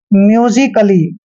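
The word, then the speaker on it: musically: है यानी कि म्यू ली क्या पढ़ेंगे इसके म्यूजिकली क्लियर ध्यान रखना है म्यूजिकली पढ़ना है म्यूजिकली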